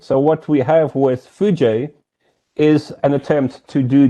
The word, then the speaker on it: foojay: pronounce it and so we've added a and y so it's clear that you say fuji and now that we